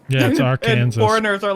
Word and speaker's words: Arkansas: Kansas let's say this it's literally our Kansas but we say Arkansas yes Arkansas foreigners are like what